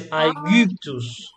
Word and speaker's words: Aegyptus: the letter Y, la letra Y, as in Spanish we call it Y for a reason, because it comes from Greek, okay? So this has a different pronunciation to the letter I. So it's like a French U, do you know U, this sound? So it's Aegyptus.